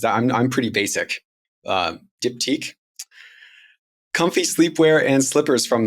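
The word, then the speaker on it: Diptyque: dipti I had to look up how to pronounce this because I'm I'm pretty basic uh dipti comfy sleepwear and slippers from the white company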